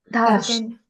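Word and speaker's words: 다시: So we learned that this when comes with e is pronounced as sh dashi. Tashi.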